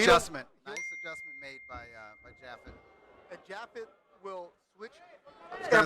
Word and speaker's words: Japhet: Is the PH like an F, Yeah. like Japhet? Yep.